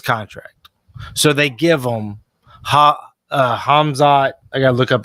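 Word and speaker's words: Khamzat: Kazamet or something like that. Yeah, it's Hazma. I just had it. Kamzamet. Yeah. He's a beast, though. No, you pronounce it Hamzat.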